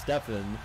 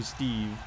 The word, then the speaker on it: Stefan: said my real name my real first name is pronounced Stefan so that's what everyone calls me no one no one in my family calls me Steve Steve is only when